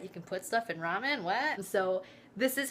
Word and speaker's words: ramen: But I'm gonna show you how I make my ramen, which I know it's supposed to be pronounced differently, like ramyan or lamyan. I don't know.